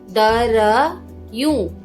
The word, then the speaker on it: दरियूं: दर यूं, दरियूं। प्रोनाउंस कैसे करेंगे? दरियूं। दरियूं आधा र आएगा। द र री यूं, दरियूं।